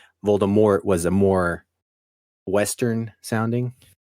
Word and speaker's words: Voldemort: mold that's pretty terrifying you know what rhymes with Mort wart also pretty terrifying you know I mean like yeah makes sense by bue it I mean but Voldemort Moore rhymes with war oo oo I have